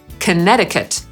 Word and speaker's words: Connecticut: „connect” /kəˈnekt/, a tymczasem nie wymawia się tej drugiej litery „c”, a więc Connecticut /kəˈnet̬ɪkət/.